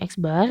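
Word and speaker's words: x̄: atau bisa kita bilang eksbar itu dibacanya eksbar yang dibawahnya itu =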